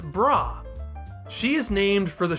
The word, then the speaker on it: Bra: have to do much work on this it's brah she is named for the shortened form of